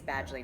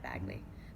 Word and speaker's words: Badgley: It is Badgley, not Bagley. Badgley.